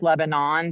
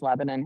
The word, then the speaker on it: Lebanon: Of course, the defense says Lebanon, but it's pronounced Lebanon here.